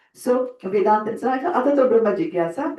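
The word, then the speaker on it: जिज्ञासा: The J and the N is pronounced as Gyan. Like in our language, we have Kshatri Gyan, right? In the Varnmala, Kshatri Gyan, right? So Gyan. It's a little nasal tone there.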